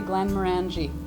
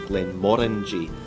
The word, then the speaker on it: Glenmorangie: in Scottish English is Glen Mori so we say it rhymes with the fruit Orange Glen and that's one